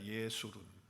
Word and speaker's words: 예수룬: 자, 여수론이라고 하는 단어는 히브리어로 예수룬으로 발음을 합니다. 예수룬 이렇게 발음을 하는데 그 뜻이 뭐냐 하면